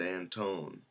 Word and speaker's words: Anton: And yet, if you go speak with someone from my family, they'll pronounce it Anton. And it's really interesting. It's not phonetically, or there was a word, there was a letter that was dropped, and all of this sort of stuff.